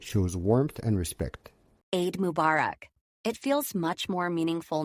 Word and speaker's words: Mubarak: Can you break down the meaning and pronunciation one more time? Of course. Aid Eid like feed means festival or celebration. Mubarak mubarak stress on bach means blessed.